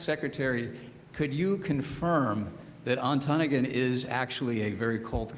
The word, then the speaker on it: Ontonagon: I asked Secretary, could you confirm that Ontonagon is actually a very cold climate? She said, well, first, it's pronounced Ontonagon.